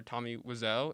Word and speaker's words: Tommy Wiseau: really interesting thing is like how much power tommy wiseau is that how you say his name yes